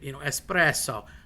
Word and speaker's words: espresso: Again, the double L, double S, or any double consonant, a doppia, a double, you drag out a little bit. Espresso. Mama. It's not you being pretentious or obnoxious. That's just how Italian is pronounced. So there's a drag on the word on purpose if there's a double consonant.